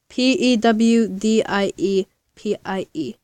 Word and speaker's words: PewDiePie: I mean no restart PE w d IE p IE so it's puke then die and pi pewdiepie don't ask why die